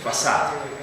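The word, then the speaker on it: façade: you say it okay in English we say facade okay facade with an s although you have a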